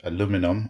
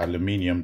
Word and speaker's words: aluminium: It's built out of aluminum or aluminium, depending on whether you have the European or the American pronunciation, and a few plastic parts.